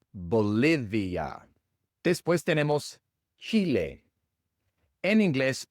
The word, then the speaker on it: Bolivia: Así que Bolivia se pronuncia Bolivia.